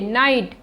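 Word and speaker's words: knight: यू आता है तो उसे शब्द में के का उच्चारण नहीं किया जाता है जैसे की नाइट कैसे शुरू हो रहा है लेकिन इसका उच्चारण करेंगे हम ना से नाइट के एन आई जी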